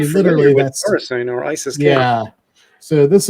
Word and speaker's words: Khorasan: Khorasan? Am I pronouncing that? Khorasan.